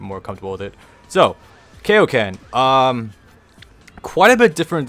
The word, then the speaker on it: Kaioken: be finest move called Kaioken yes I know technically it's pronounced kaio-ken but when I was